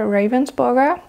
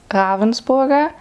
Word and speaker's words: Ravensburger: to pronounce it so in Germany the German come like the companies from Germany they call themselves Ravensburger but I'm pretty sure they will as well like in meetings or something which are held in English we'll say ravensburg so in my opinion it doesn't matter how you pronounce it I think both are fine it's just the English way to say it but just so you